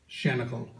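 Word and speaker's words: seanfhocal: But the words the word shan shanle is the u and the f is not pronounced. That's just one of the the vagaries of the Irish language. Uh literally means old words. Shenacle which means broken Irish is better than clever English.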